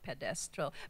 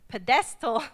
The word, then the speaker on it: pedestal: be used on a pedestral ped not pedestral pedestal in services this reminds